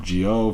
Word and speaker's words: Zi-O: focused on Kamen Rider Gio for those do not know common Rovio spoke kamen rider and then it's zio but it's pronounced with a J just so that if